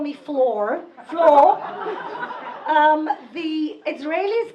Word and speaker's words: Fleur: sweat first of all because flour nobody can pronounce okay so the Americans call me Fleur Fleur the Israelis called me if they call me up and they